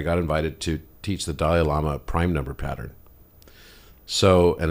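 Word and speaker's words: Dalai Lama: podcast but I got invited to teach the Dal Lama prime number pattern so and it's actually pronounced delil Lama but anyway so I went there and I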